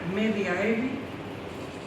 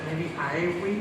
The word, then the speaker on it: Mediaevi: El señor escribió en latín una obra llamada Historia Mediaevi, o sea, Mediaevi, perdón, porque la V en latín se pronuncia como la U, a temporibus Constantini Magni